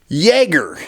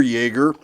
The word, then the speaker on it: Jagare: It's called the Kimber Super Jagger. It is spelled with a J. Jagar is how we would say it in English, but it's a beautiful 1911.